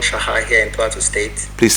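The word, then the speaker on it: Chaha: Oh, Shaha. Yeah. Oh, it's C-H, Yeah. but you pronounce it Shaha.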